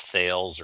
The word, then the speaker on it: Thales: But uh my role in a company called Talis or Talis Group is I belong to the cyber security products uh division. If you've never heard of Talis, don't be shouldn't hurt your feelings. Uh most people pronounce as thales or it doesn't matter as long as you call us.